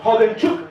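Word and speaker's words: Khodemchuk: Bueno, Valery Hodenchuk, ya sabemos que la K y la H se pronuncia como Hok.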